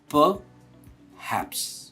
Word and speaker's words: perhaps: Although इसकी spelling में आर है, पर हम आर को प्रोनाउंस नहीं करते। हम कहते हैं perhaps. Perhaps. It is not perhaps, it is perhaps.